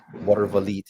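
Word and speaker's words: Watervliet: If you ever get a chance to look up the Water Valite, and it's French, Water Lviet, Water Valite is pronounced.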